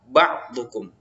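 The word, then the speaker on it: بَعْضُكُمْ: dalam bak yang kedua jadi membacanya ia ucap ba'dukum tidak boleh dibaca ya otaba ba'dukum sekalipun ba adalah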